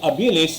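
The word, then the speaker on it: habilis: Na ibig sabihin ng abilis, silent H, kasi yung H sa Latin ay ito po ay silent, no pronounced.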